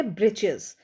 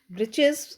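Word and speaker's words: breeches: ठीक अब यहां पे है ब्रजेस ब्रिचस यानी कि हम किसे कहते हैं ब what we pronounce a ब्रिचस ब्रिचस इज a short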